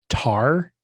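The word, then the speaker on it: Tár: Tar, I think is how you say it, T-A-R. There's a weird accent above the A, so maybe that's not right.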